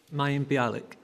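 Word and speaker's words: Mayim Bialik: with Prada Wily syndrome it is pronounced that way just may alic may alic is correct obviously compulsory viewing in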